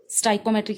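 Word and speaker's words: stoichiometric: स्टाइकोमेट्रिक इसकी pronunciation है।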